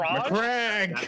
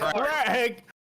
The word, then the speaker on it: Macragge: Macragge! That pronunciation. Macragge!